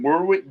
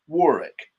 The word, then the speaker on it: Warwick: used to call him Warwick Davis and then I saw him interviewed and it's it's actually pronounced Warick. The extra W is silent and uh yeah.